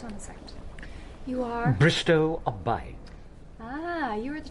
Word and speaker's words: Bristow: Bristol... Bristow, O, Bristow, rhymes with no.